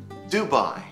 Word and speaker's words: Dubai: one is not a door by please say Dubai Dubai Florence Florence Frankfurt Frankfurt Hong Kong Hong